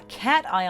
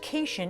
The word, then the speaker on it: cation: in an ion a cation has a positive charge it's not pronounced cation it's cat ion i drew a little